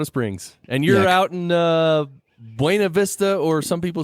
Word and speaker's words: Buena Vista: And the woman who got to name the town actually chose to call it Buena Vista. She wanted what she called an Anglo pronunciation, which I think is hilarious because, you know, it means nothing then. Because, you know, Buena Vista, the Spanish means good view. And It's just funny that someone would change the pronunciation like that on purpose, but so it is.